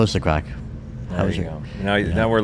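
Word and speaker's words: craic: And then, of course, how is the crack? Yeah. Which is not what some people think it is. It's an Irish expression. It's spelled C-R-A-I-C, and it's an expression we use in Ireland for having fun.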